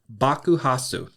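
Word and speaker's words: bakuhatsu: And explosion is Bakuhasu. Bakuhasu is spelled B A K U H A T-Su.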